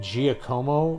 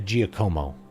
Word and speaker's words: Giacomo: sure I've met a Giacomo in my life. And that he was Giacomo, not Giacomo. With like that weird soft G.